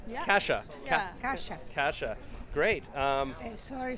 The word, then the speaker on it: Kasia: yeah and cassia did I say it right Kasha Kasha Kasha great um sorry for my bad